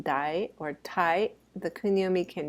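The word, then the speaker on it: 代: The next kanji we're going to look at, the second one, is pronounced dai or tai.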